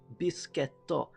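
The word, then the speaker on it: ビスケット: kind of sounds like, if you pronounce biscuit in Japanese, it's pronounced bisketto.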